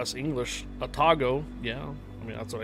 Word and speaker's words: Atago: Emphasis is on the second syllable. Atago.